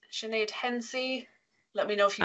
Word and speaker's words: Hensey: It's Hensey Sinead is how it's listed. H-E-N-S-E-Y. Your mic is enabled. Hello. Yes, you did pronounce that correctly.